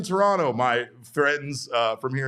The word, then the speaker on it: Toronto: But anyway, uh don't pronounce the T in Toronto, my friends uh from here in Arizona who are new Blue Jays fans.